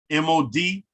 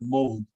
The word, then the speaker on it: mod: M-O-D is the word we use in Nuwaubic for past, is in P-A-S-T, and it's pronounced mod. Mod, not mold.